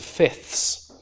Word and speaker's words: fifths: But in fact, the way most people usually pronounce that, they would say something like, we're dividing it up into fifths, and lose the second f entirely.